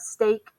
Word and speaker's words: steak: There aren't that many words with EA representing the long A sound. So we have steak as in steak that you eat, and break.